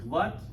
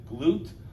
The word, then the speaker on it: GLUT: you can pronounce it glut you or you can pronounce it glute we're going to pronounce